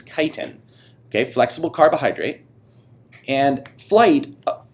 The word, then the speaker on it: chitin: wings made up of that is not pronounced chitin that is kiten okay flexible carbohydrate and